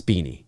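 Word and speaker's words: Beane: It'd be pronounced Beanie. Okay. I'm just making sure because that's what I thought. It's not spelt like how you would pronounce Beanie, but I think it's pronounced Beanie. So Ezra Beanie, Professor Phineas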